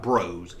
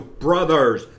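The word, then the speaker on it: Bros.: it's not mario and it's not bros it's not super mario bros it's super mario brothers that little dot after the o after the s means brothers they just didn't have enough room to spell it all out don't say super mario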